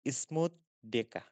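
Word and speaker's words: Schmutzdecke: এটার উচ্চারণ হচ্ছে স্মুথ ডেকা।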